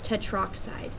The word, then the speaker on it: tetroxide: rid of that part so it's tetroxide so this is the proper way to say it and the proper way to write it and we're blurry let's